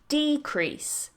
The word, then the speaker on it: decrease: increase so increase increase the same goes for our next word decrease decrease that's the noun decrease decrease that's the verb and our next word